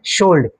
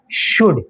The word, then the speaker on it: should: প্রায় সময় এরকম দেখবাই OUL ডি যখন কোন শব্দের মধ্যে লাগাই থাকবো এখানের মধ্যে এল এর উচ্চারণ থাকতো নাই, বুঝেছি, এখন এলটা কি